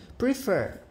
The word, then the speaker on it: prefer: Prefer. Sílaba tônica, a última.